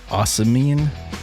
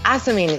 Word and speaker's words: ocimene: Ocimene? How do you say that? Ocimene, yes, that's how I say it as well. Ocimene? Ocimene? Yes, ocimene.